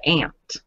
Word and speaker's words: aunt: See, I pronounce it aunt from the south. So where are you from? An ant's a bug.